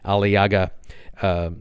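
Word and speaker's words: Aliağa: It's going to Ismir, and just north of Ismir is a shipyard specializing in scrapping ships called the Alaiga. It's A-L-I-A-G-A, that's how it's pronounced or spelled, Alaiga.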